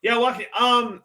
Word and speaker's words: Joaquin: Joaquin, is that how you pronounce it? Yeah, Walking Phoenix.